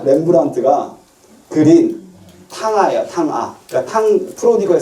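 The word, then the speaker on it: Rembrandt: 영어로 어떻게 발음하죠, 렘브란트를?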